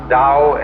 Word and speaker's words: Tao: of nature is for the Dao t-a-o pronounced Dao in the Mandarin dialect how in the changhai